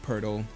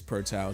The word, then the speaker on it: Pertile: In the first video we made of these lights, we said his name wrong. We said Pertile, and he said, hey guys, it's Pertile.